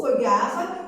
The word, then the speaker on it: regard: L'autre phrase, il lui lance un beau regard. Regard se termine avec une lettre muette que je peux la trouver en cherchant un mot de la même famille, du verbe regarder. Donc la lettre muette, c'est D.